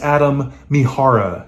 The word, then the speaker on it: Adam Mihara: outs first of all it's adam mihara not adam whatever i just said in the video i actually messaged adam